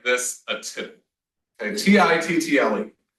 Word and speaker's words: tittle: However, from a typographic point of view, you can call anything like this a tittle.